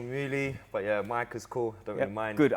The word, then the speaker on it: Micah: Different angle than the other time when I was with the main man.